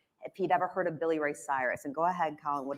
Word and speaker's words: Billy Ray Cyrus: Why don't you just say Billy Ray Cyrus?